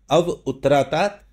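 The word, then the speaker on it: अव उत्तरात्: और अव उत्तरात है ये अवोतरा है वैसे पढ़ने में लेकिन जब आप इसको प्रोनाउंस करेंगे तो अव उत्तरात अव दक्षिणात मेरी उत्तर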